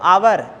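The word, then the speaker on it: hour: उसी प्रकार देखें तो आवर एच ओ यू are start तो होता है कंसोनेंट कोसोनेंट से स्टार्ट होता है लेकिन इसका प्रोनाउंसिएशन किससे होता है अ से होता है आवर से होता है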